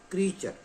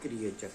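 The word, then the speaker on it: creature: क्रिएचर्स नहीं कहते, इसे कहते हैं क्रीचर, नॉट क्रिएचर। देखिए एक वर्ड है ये जो कि हम मोस्टली गलत पढ़ते हैं, हम इसे कहते हैं क्रिएचर, ये गलत है, ये होगा क्रीचर, इसे हम प्रोनाउंस करेंगे क्रीचर।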